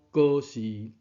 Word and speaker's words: 仍是: 第三个意思保持的意思，中文讲仍旧，闽南语讲搁是。